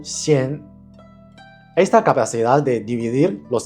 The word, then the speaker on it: 仙: El componente shan también tiene una función fonética en el carácter xian, aunque no representan la pronunciación exacta. Suena similar y sirve como aproximación fonética para el sonido xian.